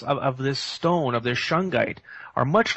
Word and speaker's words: Shungite: And then Shungite. And is that how you say it, Shungite?